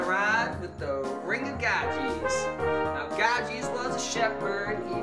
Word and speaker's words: Gyges: Anyway, today we'll be discussing justice and ethics, and we'll be watching a video on the Ring of Gyges, pronounced Gyges.